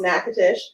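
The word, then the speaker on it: Natchitoches: it's uh spelled a little crazy but it's pronounced nakatish and it is the oldest settlement in louisiana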